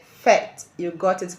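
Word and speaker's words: fête: It ends in letter E, a silent letter E. So, it is categorized to be a feminine word in French language. Let's make a sentence with this word fet.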